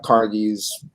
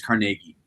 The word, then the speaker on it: Carnegie: for the people that are working in uh carnegie's you know factories or working uh you know